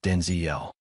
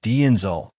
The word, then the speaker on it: Denzel: his name for decades 's not pronounced Denziel my name's pronounced Denzel he explained so there you out of folks. The emphasis is not syllable of his name and not the second with the last part rhyming with pole or lull.